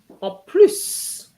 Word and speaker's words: en plus: En When plus, you mean in addition, en plus. Because en it's in addition, you're adding, so you add the S as well.